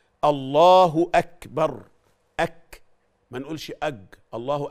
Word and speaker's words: الله أكبر: أغلب الناس في التكبير، تعرفوا أنه أغلب الناس في التكبير ما بينطقوش بالكاف أو بالهمس اللي في حروف الكاف، في حرف الكاف في همس، فبيقول إيه؟ الله أكبر، بدل ما يقول الله أكبر يقول الله أكبر. طب اختبر نفسك كده، شوفها أنت بتقول الله أكبر ولا الله أكبر. إذا كان الهمس يخرج في الكاف يبقى أنت بتنطق صح.